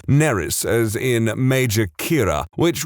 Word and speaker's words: Nerys: has the middle name nerys as in major Kira which would be fine except that it's spelled exactly the same as a Welsh name which is pronounced neris which is entirely not